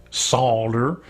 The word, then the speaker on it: solder: about Pittsburgh ease because from Pittsburgh we don't say solder we say solder well I just recently